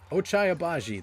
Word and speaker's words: Ochai Agbaji: Ochai Agbaji, that's how you say his name.